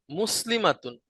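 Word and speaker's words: مسلمات: আর মানসুব হলে এবং মাজরুর হলে এটার উচ্চারণ কি হবে? এটা হবে মুসলিমাতিন। Very good. মাজরুর হলেও? মাজরুর হলো একই, মুসলিমাতিন।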